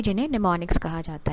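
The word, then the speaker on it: mnemonics: हम यूज़ करते हैं, तो उन्हें कहा जाता है निमोनिक्स। एम साइलेंट होता है इसमें।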